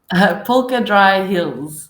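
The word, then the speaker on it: Polkadraai Hills: and quick, which was difficult for us to pronounce, I guess. What was the name of the word? Polka Dry Hills.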